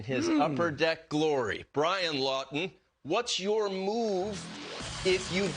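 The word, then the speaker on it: Laughton: he is available now you can have the last name lawton and not spell it the way that brian does l a u g h t o n i'm talking about scott lawton the flyers have had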